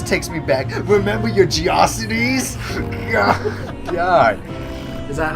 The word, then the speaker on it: GeoCities: I would pronounce it GeoCities. Yeah, me too at first. I was like GeoCities, but no, it's Geocities apparently. Because when we used that in one of my science classes, that we used a Geocities website for like that stuff. Our teacher's like, it's pronounced Geocities, not GeoCities. I was like, oh, whoops.